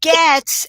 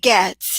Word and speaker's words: Goetz: And Goetz as if there was no O. How is that for confusing? Very confusing. Okay. So it's Goetz.